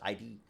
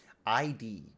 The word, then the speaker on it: id: is maybe it is id id got it uh is that how they say it ID software it's not ID it just sounds somehow more profound uh I thought there